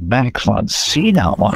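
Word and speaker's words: Max von Sydow: I was quite flattered to be working with Max von Cena wow yeah wow that's how you pronounce it Folks by the way sorry um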